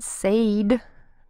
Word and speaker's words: said: Normally, A-I makes a long A sound. A. But said doesn't sound quite right. So we use the short E sound.